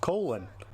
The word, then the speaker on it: Colin: spelled my name wrong my name should actually be pronounced colon but here we are